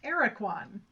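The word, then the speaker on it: Aracuan: Like, okay, and so all the pronunciations I'm seeing are saying it's pronounced Araquan.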